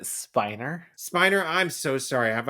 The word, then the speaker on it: Spiner: Sheldon can't believe what Spinner has done. And he put Spinner's name at the top of the list. Isn't it He is sorry, isn't it Spiner?